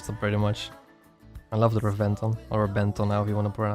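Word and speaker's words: Reventón: There's an accent on the O of the name, and then for whatever reason in Italian the B has a B sound, so it makes a B sound as in boy. So Rebenton, I think is how you pronounce it. In Italian.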